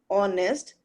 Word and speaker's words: honest: Similarly, when there is a honest man, honest start from H, and H is silent. So when we speak honest, then sound again it's O, and O is our vowel.